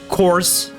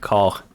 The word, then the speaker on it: corps: I will now pronounce it course. Course. No, I will pronounce it in French. I will just say corps each time.